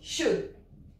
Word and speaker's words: should: Ici, on ne prononce pas le L, c'est comme could, ici on dit should.